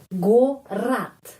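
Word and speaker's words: город: Kalau huruf O tidak mendapat penekanan, huruf O bunyinya, pengucapannya, ya, in other words, pengucapannya huruf A, ya, bunyinya A. Jadi, gorat, ya, gorat. Jadi, G benar, ya, G-O, terus A, gorat.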